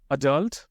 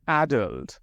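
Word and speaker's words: adult: अडल्ट और एडल्ट दोनों सही है, टेंशन मत लो।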